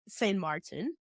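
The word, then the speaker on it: Saint-Martin: how you say it you can say St Martin in English St Marti or the way we say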